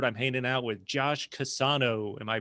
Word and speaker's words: Casano: For anyone out there watching, for this virtual episode, I'm hanging out with Josh Casano. Am I pronouncing that correctly? Yes, Casano.